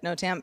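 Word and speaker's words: NOTAM: I didn't work on no Tam pronounced uh no Tam so I don't feel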